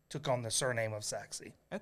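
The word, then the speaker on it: Sachse: Um, sa Oh, Saxi, that's how you pronounce because it's spelled S A C H S E, but it's pronounced Saxi.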